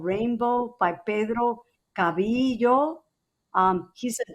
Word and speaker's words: Reinbou: translated into English, and it's spelled Reinbou, because this little Dominican boy hears the American occupation, the Marines talk about rainbows, and rainbow is how it's spelled.